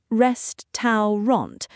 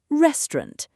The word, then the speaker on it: restaurant: Most learners say it slowly, restaurant, but native speakers often say restaurant. Restaurant. Yes, very smooth and quick. So the middle part becomes softer. Exactly. The sound becomes reduced.